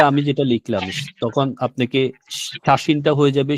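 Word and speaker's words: 写真: তার মানে আমরা যখন এই ইয়াটা যখন আমরা বড় করে দিব তখন হবে শিয়া, যখন আমরা ছোট করে দিব তখন এটা সা হয়ে যাবে, শাসিন।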